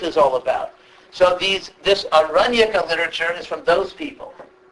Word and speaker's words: Aranyaka: So there's a class of literature called the Aranyaka literature. It's a long A in Sanskrit.